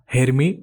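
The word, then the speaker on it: harami: तो सबसे पहला जो होगा वो हमारा हेरमी या बुलिश हरामी कैंडल स्टिक होगा। इसे यह बोलते हैं, आपका प्रोनाउंसिएशन जो भी करना हो, इसे हरामी बोलते हैं।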